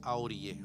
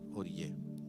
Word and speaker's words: orillé: No se dice aorillé, ¿okay? Se dice orillé.